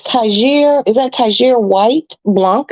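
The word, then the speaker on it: Tigre: that is not tiger it's tagir come on my French my French lovelies has a princess in PMS okay it's spelled t-i-g-r-e not that I will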